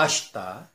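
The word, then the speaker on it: 明日: Ada beberapa kata seperti mata ashita, do itashimashite, hajimemashite, douzo yoroshiku, yoroshiku onegai shimasu, gochishou sama deshita. Nah, untuk pengucapan ini minasang, ada vokal i di tengah-tengah itu tidak dibaca.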